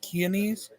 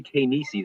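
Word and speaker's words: Chianese: Keanese? Dominic Keanese? It's actually Kanisi is how it pronounces it. How is it? Kanisi is how he pronounces it.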